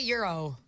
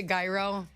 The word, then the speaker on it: gyro: know it's not good how do you say Euro Euro okay you don't say gyro I don't say gyro